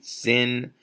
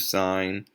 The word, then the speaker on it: sine: the way you write sign but you still say son you don't say sin you don't say anything else but sign okay this is cosign